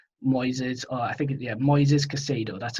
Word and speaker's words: Moises Caicedo: about this kid noises or i think yeah moises casado that's how it's pronounced so i click on the profile i'm